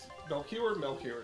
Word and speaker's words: Melchior: And now we got Melchior. There we go. That's how you pronounce it.